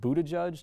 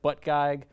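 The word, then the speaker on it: Buttigieg: also keeps insisting that his last name is pronounced Buddha judge despite the fact that it's spelled and looks like butt gag which to me is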